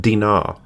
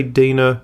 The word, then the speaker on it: Dinah: In the Hebrew, her name is pronounced Dee-nah’, some say Dinah, some say Dinah, I’m going to say it, Dinah.